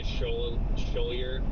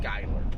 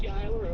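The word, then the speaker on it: Schuyler: That town is actually pronounced Skyler. The U. There's a U in it, but it's Skyler.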